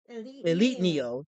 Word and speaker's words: E1337 Neo: And for the ones not versed in 1337 elite speak, my name is pronounced Elite Neo.